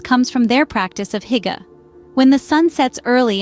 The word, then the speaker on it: Hygge: Hygge, pronounced Hygge, is a quintessential Danish term, so ingrained in their culture it is almost impossible to translate into a single English word.